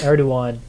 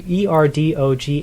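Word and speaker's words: Erdoğan: unflattering comparisons between President Erdogan. I want to spell that for you. Erdogan. Yeah, the G has like a little curve, and in Turkish apparently it makes it pronounce like w.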